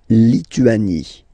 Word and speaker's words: Lituanie: La Lituanie. Remember in French, sorry, H doesn't exist, okay, so you don't pronounce it, and it's li, tu, a, ni, Lituanie.